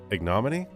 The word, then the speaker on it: ignominy: both pronunciations are acceptable. Ignominy and ignominy are Yeah. both acceptable.